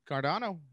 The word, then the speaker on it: Cardano: do with cardon am i saying it right cardano cardano yeah okay is there okay so first off